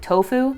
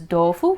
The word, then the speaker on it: tofu: like japanese which is dofu sometimes like a hard d sound sometimes it's still a t sound so if you just